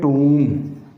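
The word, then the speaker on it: tomb: अगर letter single syllabic है और उसके एंड पे एम बी का कॉम्बिनेशन आ रहा है तो हम बी को साइलेंट कर देंगे।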